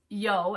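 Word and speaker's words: Yoo: Okay, so her name is pronounced Yo, as in yo-yo, she said.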